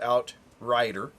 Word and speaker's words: Outryder: It's why they call it Outrider. It's spelled, with rye as in rye whiskey.